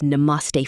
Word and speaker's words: Namaste: Walk up to a guard or staff member, smile, and say, Namaste. Ticket counter kaha hai? Namaste. Ticket counter kaha hai?